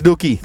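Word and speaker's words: Dookhie: This is Dookie, not Dookai. So when you see Dookhi on the screen, hey, look, Dookai. No, it's Dookie.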